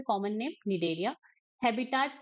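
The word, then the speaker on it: Cnidaria: यहां पे क्या है निडेलिया यहां पे ये जो सी है वो क्या होता है साइलेंट होता है ठीक है तो इनका नाम क्या है यहां पे कॉमन नेम निलेरिया।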